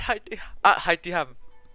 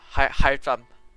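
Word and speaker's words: Alhaitham: Oh, at Haitiham. Apparently the AL is supposed to be pronounced instead of Al. It's supposed to be like at Haitiham. Haitam. At Haitam.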